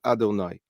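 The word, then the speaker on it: אֲדֹנָי: is the shame but it's pronounced differently than it appears before us it is pronounced Adonai and we talked about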